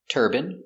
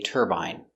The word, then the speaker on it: turban: These two words are pronounced exactly the same. Turban, he's wearing a turban, and turban. This is a turban. In America, it's more common to hear turban, but in England, they say turbine.